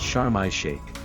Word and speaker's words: Sharm El Sheikh: Often abbreviated to sharm in Arabic, it's pronounced chararma shake.